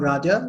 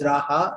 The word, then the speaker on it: Raja: name on Facebook was Raja Ahmed, and the people who are living in US or UK or in these countries out there, they kind of like pronounce it as Raha, and I was like,